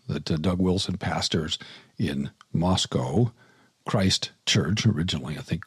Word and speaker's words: Moscow: One thing I learned is that I've been mispronouncing the name of the town. It's Moscow, not Moscow.